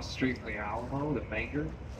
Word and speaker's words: Menger: 1840s across the street from the Alamo, the Bangor. It's spelled M-E-N-G-E-R, but people pronounce it Menger. It's Bangor.